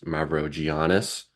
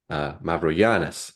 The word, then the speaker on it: Mavrogiannis: I recently went through a realization that um the American way is Mavrogiannis. Everybody has that kind of American last name. And then I've been pronouncing it like that forever. And I'm realizing like, well, the Greeks, when you talk to a Greek person, they pronounce it as a Y, Mavro Mavrogiannis. So I've been trying to